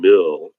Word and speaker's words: mill: trouble hearing that difference the I and the e sound the same to them so just some many